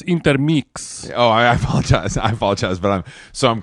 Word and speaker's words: Intermix: I haven't had time to kind of hit intermix for all my necessities. It's pronounced intermix.